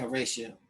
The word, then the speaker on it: Horatio: Horatio, maybe? Yeah, Horatio. Thank you. Did they pronounce it like that back in the day? Horatio Hale. Thanks for that correction.